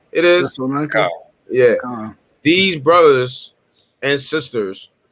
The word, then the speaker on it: Thessalonica: I can never pronounce this church name right, but Thessalonica it is. Thessalonica.